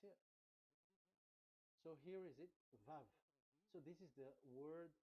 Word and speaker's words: vav: We called it as vav. Vav. Your claw your mouth is like closed. Vav. So it's V as in Vogue.